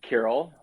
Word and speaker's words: Kiril: in north america where not a single person can say it right away do they say they say krill sorry to interrupt you